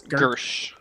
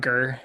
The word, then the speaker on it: Gersh: Gersh. Gersh, not Gur. Not Gur. Gersh.